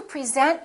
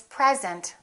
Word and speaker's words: present: yes those two always conflict i want to present you to my family i want to present you to my family i will bring them a nice present i will bring them a nice present do